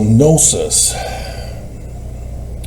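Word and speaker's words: gnosis: Even though the G is silent, it's from the same concept. And so nosis is the word for gnostic the people and nosis is knowledge.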